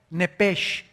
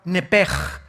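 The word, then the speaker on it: נפש: nepesh, así como suena, n e p e s h, nepesh. La palabra, la letra o las letras s h en el hebreo se pronuncian en hebreo como j, entonces, se pronuncia nepesh.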